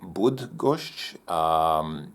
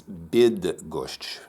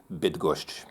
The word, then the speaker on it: Bydgoszcz: of the city is bid that gosh it's it's actually like the English word bid so please enjoy a video about bid gosh you so much welcome